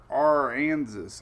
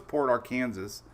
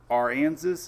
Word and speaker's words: Aransas: Hey, Carol from Port Aransas. How do you say that? I know it's Port Arkansas, but it's Aransas. Is it like Kansas? Aransas? Is that how you pronounce it?